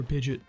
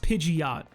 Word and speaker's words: Pidgeot: you guys say for Pidgeot? You guys know about the great Poker Rap Sciop for Pidgeot because it's pronounced Pidgeot. Like there's an O in there.